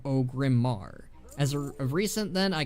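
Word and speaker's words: Orgrimmar: I was pronouncing it Orgrimmer instead of Ogrimmar.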